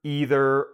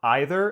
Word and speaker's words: either: find that in English, I'm going to say either neither, either, or either, and all of those pronunciations are fine to use.